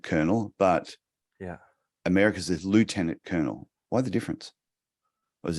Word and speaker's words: Lieutenant: be said and uh the Americans say it phonetically so it's l-i-e-u and they say Lou uh it's just a